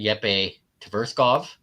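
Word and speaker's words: Jeppe Tverskov: the midfielder, Yep Tverkov or Yep. that's how you pronounce it.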